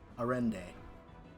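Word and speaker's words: Arendae: Arende. That's how you pronounce it.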